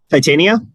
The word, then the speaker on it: Titania: versus taitian how do you say her name titania titania okay it's she-hulk version versus titania and